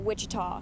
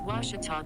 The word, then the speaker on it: Ouachita: at a baptist university back in texas everybody pronounces it wichita but really it's ouachita washington washington how would you pronounce it it's washita baptist university get it right it's watertall people